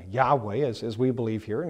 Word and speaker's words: Yahweh: Goes on to say there is no doubt that the original sound was W and not V. Sometime during the history of the Roman or the history of the Hebrew language, there was a shift from W to V in pronunciation, probably already during the Mashiach period.